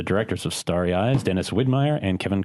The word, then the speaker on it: Widmyer: We always say it sounds like a German beer company, like Widmyer and Kolsch.